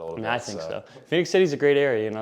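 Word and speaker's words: Phenix City: it like Fenix yeah so it's exactly like Arizona just without the o yeah people were saying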